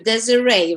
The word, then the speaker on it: Desiree: So I want to greet you, Desiree, right?